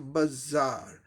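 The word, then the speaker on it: bazaar: ए के लिए आ लॉन्ग आ साउंड आ रहा है। आर का र साउंड ब्रिटिश इंग्लिश प्रोनाउंसिएशन में ओमिटेड होता है, साइलेंट होता है। ये सिंबल ब्रिटिश इंग्लिश दिखाता है शॉर्ट्स। अब देखिए इसका क्या हो जाएगा, बाजार, बाजार, बाजार, बाजार, बाजार, है ना।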